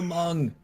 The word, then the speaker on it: Munn: You always say Mung. So, it's Munn. That's how they say it. Is it not Olivia Munn? I think it's. Wait. I gotta spell it out. Oh yeah, I guess there's no G in there.